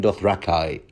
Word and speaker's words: Dothraki: out iones volantines doth you name it even doth rakai according to George Martin's pronunciation thoros and Lord ber were everywhere you